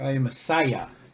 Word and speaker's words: Iamascia: hi everybody let's talk about this character Danny I am Asia or I am Messiah is how it's pronounced apparently I am Messiah I a m-a-s-c-i-a